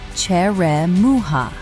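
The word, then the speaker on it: черёмуха: The next fruit is called cheremuka, pronounced cheremuha.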